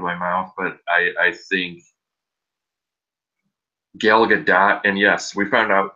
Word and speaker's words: Gal Gadot: mouth, but I think Gal Gadot, and yes, we found out that's actually how you say her name. it's exactly like it looks, and we know because that's how she pronounces it.